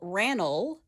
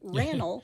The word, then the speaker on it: Randall: correct now Randolph McCoy also called Randall and O ranal they left out the D ranal so that's what I'm